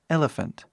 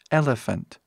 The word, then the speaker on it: elephant: que significa Almoço próxim nós temos PH que faz som de f igual um F mesmo por exemplo PH ou